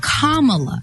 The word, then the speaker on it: Kamala: name correctly it is kamala harris like a comma in a sentence and that's today's topic